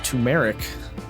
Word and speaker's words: turmeric: ] verb either oops technically the herb is pronounced tumeric okay and i was